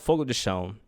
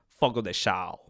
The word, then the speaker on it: Fogo de Chão: It's called Fogo de Chão, or if for a more Americanized accent, Fogo de Chão, because there is an accent on the A over there, and it's hard for a non-Brazilian to get that right. But it's Fogo de Chão. It's a little more down-tone, let's put it that way.